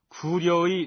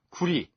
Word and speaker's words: 구려: 글자를 굉장히 중시하고 있습니다 일부에서는 구려의 려를 리로 발음해서 구리 혹은 고리라고 읽어야 옳다는 주장을 하기도 합니다만 여기에서는 구려 또는 고구려로 발하도록 하겠습니다 어쨌든 본디의 나라 이름은